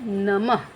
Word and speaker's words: नमः: इस तरीके से तो जैसे शब्द है नमः इसका उच्चारण क्या हो रहा है अह नमः अह नम तो जिसके साथ अह